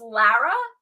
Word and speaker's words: Lara: So it's pronounced Lara. Is that correct?